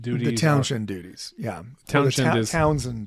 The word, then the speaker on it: Townshend: Townshend duties. The townshend duties. Yeah. Townsend duties is usually how it's pronounced. Okay. But it's spelled with shend, but usually they don't say it.